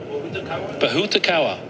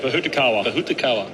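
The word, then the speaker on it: pōhutukawa: Oh, Jim pronounced it pretty well earlier. Bahutakawa. Yeah, I'm happy to roll with that. Bahutakawa.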